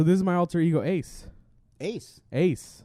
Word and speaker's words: AC: is my alter ego ace ace ace like ace ac ac like hardcore misspell it but it's still called ace like ac like like the ace conditioning ace ace nice because